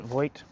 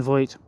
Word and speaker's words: Voigt: yeah fed foled okay Sebastian folk that's how you actually say his name uh where am I